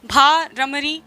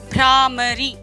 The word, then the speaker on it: भ्रामरी: तो इसका मतलब ये हुआ कि आप उच्चारण तो आप इसका उच्चारण सही तरीके से करें, भ्रामरी। भ का उच्चारण आधा हो रहा है, कितना जल्दी बोलने में आ रहा है, स्वयं देखें।